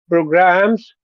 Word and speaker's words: program: to create programs for the analytical engine. Okay, which syllable has all of the sound in program? Program. Pro program. Program. The first one, first syllable.